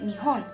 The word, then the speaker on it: 日本: En chino se dice Rippan y en japonés se dice Nihon.